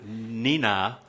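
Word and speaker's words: Nenagh: great time with because she went to you know ni na and the town is spelled and en agh because it's Irish right but she still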